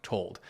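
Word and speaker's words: Tuld: of the company John told now quick fun fact John told actually rhymes with Richard fold who was the last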